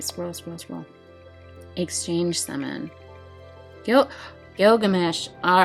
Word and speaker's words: Gilgamesh: Introducing the Exchange Shop, Gilgamesh. Can I say his name worse? Gilgamesh.